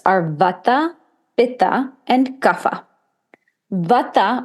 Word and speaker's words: Vata: Vata, or in the West we pronounce it Vata, but Vata dosha is primarily dominated by air and ether.